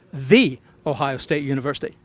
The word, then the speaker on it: the Ohio State University: It is the Ohio State University. Oh yeah, my mom went there. She always stresses the.